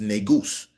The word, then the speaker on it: negus: Nu s pronounced negus.